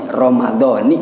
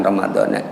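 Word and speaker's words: رمضانِ: Dan dalam kitab fikih Fathul Muin juga disebutkan memang bil kasroti ramadhani bacanya, bukan ramadhana.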